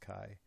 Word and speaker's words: chi: it's a Greek letter Kai Chi it's not pronounced Chi it's pronounced Kai so we don't we don't reject because Kai